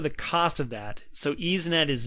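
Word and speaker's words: YsNet: I was thinking about how you pronounce that, but it's EaseNet.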